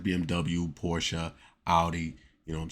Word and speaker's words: Audi: Brands like BMW Porsche Audi you know what I'm saying and yes that's your correct uh pronunciation of these cars is Porsche not Porsche you know and it's Audi not Audy you know what I'm